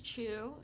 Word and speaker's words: Tju: still calls me that my last name is chew spelled tju but pronounced chew and so growing up